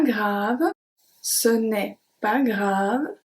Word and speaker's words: grave: Grave, v. So the last letter that we pronounce here is V. Grave. So the E is silent as well.